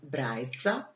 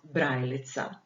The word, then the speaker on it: Brajica: So the first question was, in the Croatian language, the alphabet for the blind is called Brajica, not Brajlica. Why?